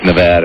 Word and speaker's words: Nevada: pronounce Nevada right or didn't care whether you pronounce it Nevada or Nevada he didn't care we are happy it's Nevada and this guy must be from California probably